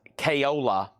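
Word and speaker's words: Caiola: Al, I believe that's pronounced Kayola from Russia with Love from the James Bond movie.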